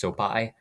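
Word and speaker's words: Sopaj: Um, it's spelled with a J on Tapology, but I think it's pronounced Sopai.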